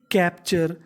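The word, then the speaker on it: capture: अगला सेंटेंस देखते हैं सीए पी कैप टी यू आर ई चर क्योंकि टी यू आर ई को पढ़ना है चर तो मीनिंग ब यानी कैप्चर कैप्चर का मतलब कैद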